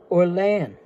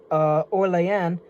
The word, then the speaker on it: Orléans: And again, when we're talking about Orléans, that's really the way that New Orleans in the city of New Orleans in Louisiana is actually supposed to be pronounced. A lot of people here say they say New Orleans, but actually it's New Orleans because it's French.